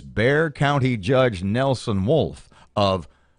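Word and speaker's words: Bexar: you see the word B exa AR it's pronounced bear it's bear County okay just to give you guys a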